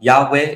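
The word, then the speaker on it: Yehovah: So, I think that Yhovah is most probably the uh the way to pronounce his name. All right. Um, but Yahweh is also another plausible alternative.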